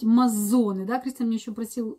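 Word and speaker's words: Mazzone: И мы с ним даже еще думали, как правильно сказать, Лоран Мацоне или Мазоне. И пришли к выводу, что правильно говорить Мазоне.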